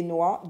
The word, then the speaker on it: noix: Des noix, le X ne se lit pas. Ça, c'est le son OA. OI se lit OA. Des noix.